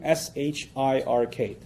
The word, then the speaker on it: shirk: I'll spell that out for you too: S-H-I-R-K. So nothing worse for a Muslim, from his faith perspective, nothing worse than shirk. S-H-I-R-K. Sounds like Shrek, so that's easy to remember, right?